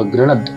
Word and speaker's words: गृणद: अब ग के नीचे रफा है तो उच्चारण क्या बनता है, ग्र ण द। अब द के नीचे आप देखिए मात्रा कैसी है, आधे द की, तो इसको उच्चारण पूरा द नहीं होगा, सिर्फ द होगा, गृणद। ये गृणद, इस तरह से इसको उच्चारण बनेगा, ये बना गृणद।